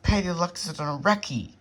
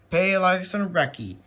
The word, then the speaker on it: Palaeoloxodon recki: And good God, I pronounced it wrong. So actually this is Palaeoloxodon Recki. Palaeoloxodon Recki.